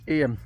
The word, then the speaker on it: Eyam: And when you consider some of the stories that I've been reading about with regard to the people in 1600s Eyam, not Ayam, however you pronounce it, and how they suffered during the Black Death.